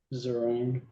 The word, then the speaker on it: Zeringue: This is People versus Zeringue. Is that how you say it? Zeringue.